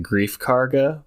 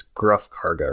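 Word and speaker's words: Greef Karga: yes okay because i i was about to pronounce it grief karga but i it's gruff karga right no grief grief okay i was trying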